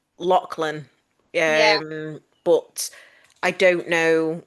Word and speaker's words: Lachlan: It's pronounced Lachlan.